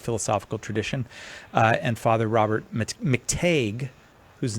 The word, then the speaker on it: McTeigue: And Father Robert McTague, whose name I pronounced it right that time, Nick, right?